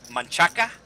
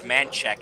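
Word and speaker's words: Manchaca: So, so it's actually it's actually pronounced manaka, but it was angalized and it is uh known as mancheck in the Austin area.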